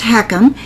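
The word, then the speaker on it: HECM: you and I talk what is a home equity conversion mortgage pronounced heckum it's also known as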